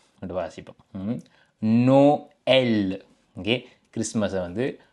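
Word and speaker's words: Noël: அப்ப இதை நாங்கள் வாசிக்கும் பொழுது பார்த்தீங்கன்னா இதை நாங்கள் நோ எல் என்று வாசிப்போம் நோ எல் ஓகே கிறிஸ்மஸ் வந்து நோ எல் என்று வாசிப்போம் ஓகே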